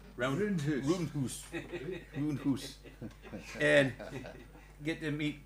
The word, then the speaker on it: Roondhoose: Roondhoose. Roondhoose.